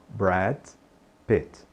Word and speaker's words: Brad Pitt: não coloque a vogal não coloque esse I no final Então diga Brad Pit Brad Pit Brad Pit e note aí que em inglês os nomes geralmente eh o sobre nome que é pronúncia mais forte como a gente